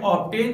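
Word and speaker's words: obtain: Friends, यहाँ पर मैं आपको एक्सेप्शन बता दूं कि दो ऐसे वर्ड्स हैं जहाँ पर ये रूल फॉलो नहीं होता, यानी वहाँ पर बी साइलेंट नहीं होता, वो है ऑब्टेन और ऑब्स्टक।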